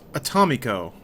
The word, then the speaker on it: Atomico: That's pronounced Atomico. Okay. Atomico. Gotcha. Play on words atomic in Spanish because my name is from Puerto Rico.